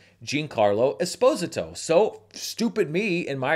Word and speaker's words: Esposito: More than one comment that literally said his name is pronounced Esposito, like phonetically. Here's the thing though. It's not. Giancarlo Esposito, Esposito, Esposito, Esposito.